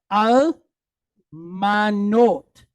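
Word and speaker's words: אַלְמָנוֹת: Then we have the tav at the end. We're going to close the syllable with the T sound. Note. Okay? So we have al manot.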